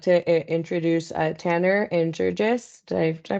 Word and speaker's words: Georges: So without further ado, I'd like to introduce Tanner and Georges. Did I pronounce that right? Georges, yes, Georges.